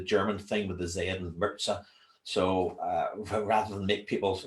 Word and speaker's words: Mirza: I was just going to ask purposely didn't pronounce your surname because I didn't want to get it wrong so it's Mirza Mirza Mir is that a so some people